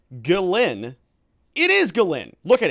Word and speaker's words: Ghislaine: He was treating the wrong letter of Ghislaine as silent.